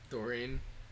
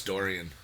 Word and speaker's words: Dorian: Doreen. Doreen? Yeah. Oh, no, it's Dorian. Like the portrait of Dorian Gray.